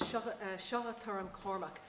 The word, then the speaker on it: Seacha Tuairim Cormac: The first piece we're going to play is Seacha Tuairim Cormac, and I'm pronouncing it in an Irish way because I suspect it's a sort of corrupted Irish title.